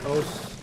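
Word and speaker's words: osu!: I haven't played OS in a while, which it's spelled OSU.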